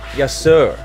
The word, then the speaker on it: Yasur: up there to climb an active volcano Mount yasur that's how you pronounce it there's literal lava with liquid hot